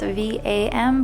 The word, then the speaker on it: Vam: chakra is bum belt vam but it's pronounced v u m purifies and connects to